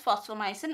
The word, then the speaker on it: fosfomycin: Fosfomycin is also called phosphonomycin, or sometimes instead of F we can use PH also. So it is again pronounced as fosfomycin only.